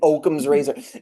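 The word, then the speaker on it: Occam's razor: I think I finally learned how to pronounce that. You're right. Saying Oakum's razor.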